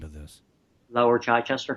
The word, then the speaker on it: Chichester: So have you, I mean, you're a former captain with the local, how do you pronounce the name of this? Lower Chichester. Chichester.